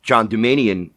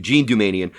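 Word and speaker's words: Jean Doumanian: it's a very recent article about the infamous John Dumanian year. Yes. I think I pronounced her name right. Jean Dumanian. Jean, thank you. Jean Dumanian.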